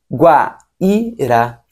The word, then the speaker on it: Guaíra: Guaíra tem um acento. Tem um acento no I, o I fica sozinho, o I tem força de vogal, logo nós teremos um